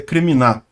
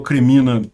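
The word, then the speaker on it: Kreminna: ficar eh crítica né a pronúncia correta é criminar é que às vezes eu erro e falo cremina eh porque em português seeria cremina né enfim eh essa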